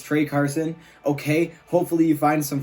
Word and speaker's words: Trey Carson: Okay, it's not Tra Carson, it's Trey Carson.